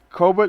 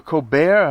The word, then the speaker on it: Colbert: to pronounce his name he used to be cobra evidently is what the tale comes out of the carolinas but when he got some money he insisted the family call himself colbert it's sort of like